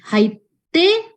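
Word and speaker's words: はいって: Kakoi, haite berarti dia dikasih tsu kecil di depan t. Gakko, kakoi, haite. Cara bacanya ya.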